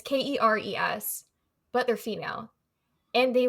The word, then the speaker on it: Keres: I want to say it's pronounced Keres. It's Keres, but they're female.